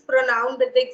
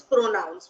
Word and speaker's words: pronounce: And the other word, it is PRONOUNCE, and we call it as pronouns, we don't say it as pronounce.